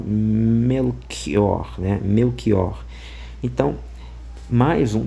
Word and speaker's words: Melchior: Então, talvez por essa aproximação é que em vez de ser um um uma som mais chiado melior, ficou ao contrário melquior, né?